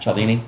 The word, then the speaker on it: Cialdini: Cialdini?